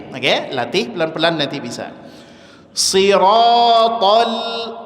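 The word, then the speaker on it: صراط: Siratal sirat. Sir itu semuanya tebal. Tib. Maka dalam posisi jangan senyum ngambek saja tapi ingat jangan sampai memonyongkan kedua bibir.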